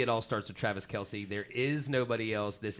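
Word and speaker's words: Kelce: all starts with travis kelsey there is nobody else this is as you were saying actually him and his brother announced that the official pronunciation that name is chelsea okay so that's stupid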